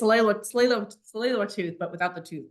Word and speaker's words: Tsleil-Waututh: It's like saying sleigh, and then you just add the ul at the end, so Tsleil-Wat or Tsleil-Waututh.